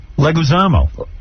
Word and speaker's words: Leguizamo: Leguizamo. Oh, okay, but it's spelled with the I in there.